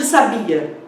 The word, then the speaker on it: sabia: E no caso de sabia, também temos uma palavra paroxítona, já que a sílaba tônica é 2.